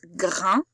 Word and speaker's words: grain: Voilà pourquoi le premier mot se prononce grain et le deuxième graine, parce qu'il y a un E qui casse le son 1.